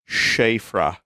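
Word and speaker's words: Siofra: Vinnie, the Seophra River is pronounced Shara. It is Gaelic.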